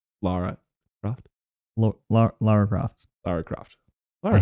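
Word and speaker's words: Lara Croft: Laura I thought it was Laura Laura la Laura coft la Laura cof you almost made me say it right wrong Laura coft you did say it wrong laara coft La laa coft Loft I hate that you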